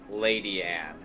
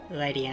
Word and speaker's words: Ledian: Tiny Gamer says there is actually an episode with Ledian in it, and he says that they pronounce it Lady Anne, which is...